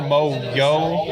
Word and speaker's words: Mojo: Is it Mojo or Mo-Yo? I don't actually know how you say it. Oh, from Marvel. Yeah, from Marvel. Mojo. It's Mojo. It is Mojo.